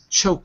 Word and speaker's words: choking: repeat the word choking not sh but CH choking okay choking that's it very